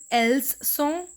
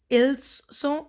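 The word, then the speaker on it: leçons: Here we are not pronouncing S. So it is not Leçon, Leçon. No, it is Leçon and Leçon.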